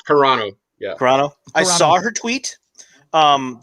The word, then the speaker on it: Carano: saw the tweet from gina uh serrano or carano i don't want to say it wrong serrano i think it's carano i saw her tweet